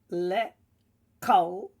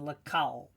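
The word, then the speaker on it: לכל: Now just a note here that often the kamatz there is actually taken as a short O sound, according to the modern grammar rule of the kamatz, where it's a closed loop. So we could actually say lekol rather than lekal.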